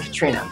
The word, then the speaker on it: Catriona: french i say catfiona and i say catriona because that's how it's spelt with a c and i like it more than katrina how we actually say it only five people in the world say it properly my mom and dad